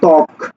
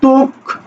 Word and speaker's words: ত্বক: ওকে, তাহলে এবার একটু আমরা দেখি যে এইখানে প্রথম শব্দটা হলো ত্বক। ত্বক, ত্বক, দেখো তো এটাকে তুমি কি উচ্চারণ করছো?